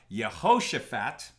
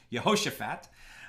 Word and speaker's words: Jehoshaphat: 3 we're talking about yehoshaphat yeah so she's probably pronouncing that wrong Jehoshaphat uh making a gift